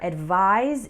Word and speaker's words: advise: giving advice so remember advise is pronounced with a z sound and advice is pronounced